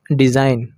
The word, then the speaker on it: design: डिज़ाइन, DESIGN, तो यहाँ पर भी जी साइलेंट रहेगा क्योंकि एन से पहले आया है, तो यहाँ पर डिज़ाइन हो जाएगा, DESIGN, तो डिज़ाइन पढ़ेंगे इसको।